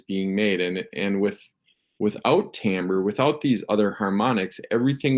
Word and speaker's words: timbre: what we call Tambor I know it's spelled timbre but it's you say it Tambor and it's musical quality